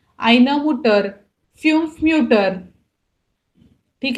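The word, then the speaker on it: Mütter: तो आप यहाँ पे देख सकते हो, जैसे अपना हम लोग ओन ऑर्डर मिट उमलाउट लिख रहे हैं, हमारा जो प्रोनाउंसिएशन है वो भी चेंज होता है. आइना मुटर, फ्यूम्फ म्यूटर.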